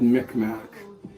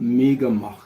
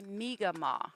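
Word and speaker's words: Mi'kmaq: we I grew up with uh being called Mickmack and um I knew it wasn't right.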